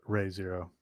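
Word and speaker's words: Re:Zero: it's reason i think it might be actually pronounced ray zero i just assume it's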